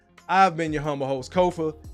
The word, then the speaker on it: Kofa: I've been your humble host, Kofa, K-O-F-A, not coffee, not kufu, not Kofi, or any variation thereof. Kofa rhyme with sofa, easy to say, easy to spell.